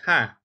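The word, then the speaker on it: ห้า: laugh on social media because the number five sound is ha huh so five and Tai is pronounced ha but they also happen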